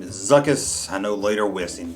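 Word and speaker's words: Zuckuss: out there will say i'm mispronouncing the name i call him zuckus call him zuckus that's a zu a ck followed by you and a double s zuckus zuckus is a bounty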